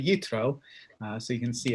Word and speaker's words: Yitro: um is roughly speaking and which is jethro right that's the name there transliterated from from the hebrew but it's really utro uh so you can